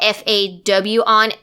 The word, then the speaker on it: Fawna: If you want to follow me on social media for the podcast, my name is spelled Fawna, like fawn, like a baby deer in A, so fawn.